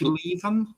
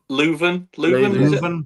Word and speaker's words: Leuven: Pronunciation. O-H Leuven. Leuven.